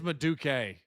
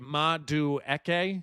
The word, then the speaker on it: Madueke: Yeah, I think it is Maduke. Wait, Madueke?